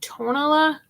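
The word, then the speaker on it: Tonalá: the things i got i don't know if it's tanala tala butter now i'm hearing it's pronounced tonala um from debbie from arvik on travels that's how she says it but or if it's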